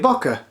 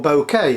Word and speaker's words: bokeh: was a lovely effect some swirly bokeh or bouquet however you want to uh pronounce it uh helios 44 owners